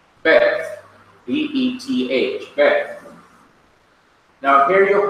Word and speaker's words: Beth: It's Beth. Beth.